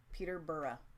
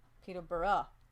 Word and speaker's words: Peterborough: is not there telling that's pronounced Peterborough Peterborough boro boro yeah yeah thank you guys